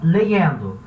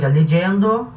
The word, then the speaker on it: leyendo: Vai ter lugares que vai pronunciar esse Y, legendo. Outros lugares vai pronunciar legendo. Outros lugares vai pronunciar legendo. A pronúncia tanto faz, você escolhe uma.